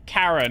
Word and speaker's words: Charon: How did he pronounce Charon? Karen. Fascinating, isn't it?